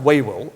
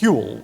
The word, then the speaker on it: Whewell: And this man is known as William Whewell. His name is an old Lancashire name. It's not pronounced Whewell, it's pronounced Whewell, like jewel.